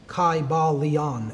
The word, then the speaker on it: Kybalion: It would have been a long I sound, Kybalion, and every syllable would have been pronounced.